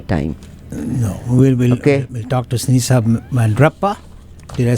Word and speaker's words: Sinisa Mandrapa: No, we'll talk to Sinisa Mandrapa. Did I say it right? Yes, Sinisa Mandrapa. Perfect, yes. Sinisa Mandrapa.